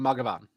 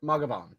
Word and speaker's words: Mathghamhain: very far away from Magavan. Yep. So it's ma like mama, gov like government, on like yon. Yep, Magavan. Because it's Old Gaelga and it cannot be pronounced the way that it's spelled.